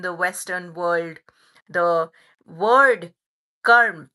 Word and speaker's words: karma: Western world, the word karm. It is karm. It's a Sanskrit word. It is not karma.